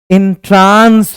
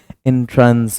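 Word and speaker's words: entrance: एंड होगा समाप्त होना इंट्रांस बोलते हैं हम लोग जबकि सही प्रोनंसिएशन प्रवेश के लिए एंट्रेंस होगा इट्स एंट्रेंस एंट्रेंस नॉट इंट्रांस और यह जो कंफर्टेबल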